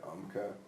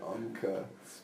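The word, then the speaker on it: Umcka: You thought you were sick, that UMCA. Is this some sort of big Latin thing? No. It's called UMCA. It's spelled U-M-C-K-A.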